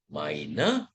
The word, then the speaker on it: meine: And likewise, mine will change to meine, deine, keine, seine. Once again, meine, deine, keine, seine. Because there is a, at the end, E. So we always pronounce or elongate it because of the last E.